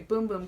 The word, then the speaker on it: Bum Bum: It is the Sol de Janeiro Boom Boom Cream. People say it's not Bum Bum Cream, so now I'm saying it the right way. Boom Boom Cream.